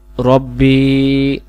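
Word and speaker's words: رَبِّي: উচ্চারণ করি আল্লাহুম্মা আনতা রব্বি রব্বি রব্বি বলে এক আলিফ টান দিতে হবে বায়ের জেরটা রব্বি আল্লাহুম্মা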